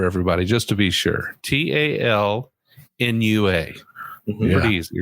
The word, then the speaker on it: Talnua: Let's spell it out for everybody just to be sure. Talnua.